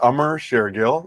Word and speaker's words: Amar Shergill: don't know it's good it's a ummer share gill the first name rhymes with summer actually funny story i